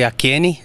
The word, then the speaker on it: AKN: Bom, meu nome é AKN, se pronuncia assim AKN, né?